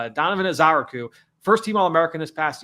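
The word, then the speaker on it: Ezeiruaku: Now, the last name, Donovan Ezaraku. Ezaraku. All right. That's going off the pronunciation guide from BC. So Ezaraku. Donovan Ezaraku.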